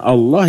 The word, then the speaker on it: الله: penulisan penulisan yang EE pengucapan yang benar dari tulisan Allah ya Allah bukan Allah karena di sana lamnya itu disebut tafhim bukan tarqik tebal kecuali kalau baris sebelumnya